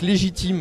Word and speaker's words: Les J team: essaie aussi de revendiquer légitime à dire comme ça on a l'impression que ça s'écrit comme légitime en fait non c'est un jeu de mots c'est les dis un J et Tim voilà c'est bien surtout